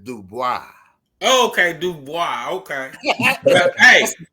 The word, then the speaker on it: Dubois: And cuz since you've been speaking French, you pronounce it Dubois.